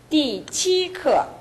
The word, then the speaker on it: 第七课: 第七课. 第七课. 네, 해보십시오. 第七课. 좋습니다. 다시 한번. 第七课. 지금 띠 했거든요. 띠 하면 일성이 돼요. 띠. 네. 예, 띠. 띠. 네, 반드시 내려와 줘야 됩니다.